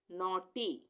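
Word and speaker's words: naughty: यू यहां पर भी ए के बाद यू आ गया तो यहां पे एन ए यू क्या बन गया नौ नौ और उसके बाद टी जी एच साइलेंट है यहां पे नौटी नॉटी ठीक है तो वीडियो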